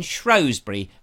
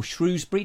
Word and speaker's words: Shrewsbury: don't say Shrewsbury because Shrewsbury wasn't named after the mammal let's just get that